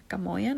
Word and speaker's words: Gamoyan: Gamoyan is how you say it.